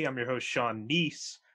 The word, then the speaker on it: Kneese: i'm your host sean nice the k is silent k-n-e-e-s-e and bullshitting with sean